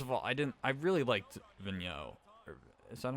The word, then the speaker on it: Vigneault: First of all, I really liked Vigneault. Is that how it's pronounced? Yeah, Alain Vigneault.